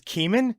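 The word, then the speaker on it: Kemen: hold on a second his name is keeman you are aware what that rhymes with right thanks for making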